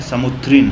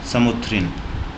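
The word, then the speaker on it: Samoothiri: और इसका हिंदी जो जमोरिन है जमोरिन एंग्लीसाइज वर्ड है। ब्रिटिशर्स अच्छे से प्रोनाउंस नहीं कर पाए तो उन्होंने जमोरिन बोल दिया। इसका जो हिंदी टर्म है समुत्रिन है। समुथिन।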